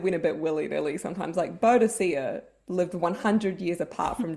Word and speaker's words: Boudica: Actually, I think it's pronounced Boudica historically, but in Xena, it's Boudica. It kind of depends who you ask, because I think the Latin official is Boudica.